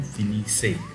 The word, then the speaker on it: finissez: But, you have to pronounce it with nous. Nous finissons and vous finissez.